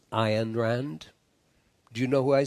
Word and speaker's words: Ayn Rand: your consciousness I unrendered Rand actually pronounced iron Rand do you know who